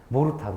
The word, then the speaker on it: 모르타르: 발음하면 뭐라고 할까요? 모르타르. 그렇죠?